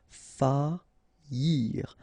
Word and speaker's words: faillir: Okay, so you don't pronounce this I here, okay? Faillir.